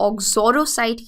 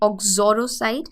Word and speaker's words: uxoricide: सो यूक्सोरिसाइड को हम ऑक्सोरोसाइड की तरह प्रोनाउंस करते हैं, ऑक्सोरोसाइड।